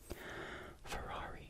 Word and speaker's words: Ferrari: When there's two Rs together, it makes a sound. Fatti, viatt, Ferrari, Ferrari, Ferrari, Ferrari.